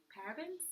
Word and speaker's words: paraben: mentioned or par parab parabens parabens we're saying it wrong you could help us out it's paraben it looks we see